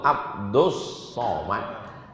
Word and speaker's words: Abdus Somad: Ahad allahus Somad lalu Ustad Somad Ustad Somad itu salah kalian yang betul tuh Abdus Somad tapi kenapa ditulis Abdul Somad itu ejaan Inggris lu ejaan Arabnya Abdul